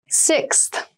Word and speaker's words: sixth: floor don't you six sixth sixth so sixth refers to the number six of something this is a really good word to practice some pronunciation slow down that six that middle part there the sixth book from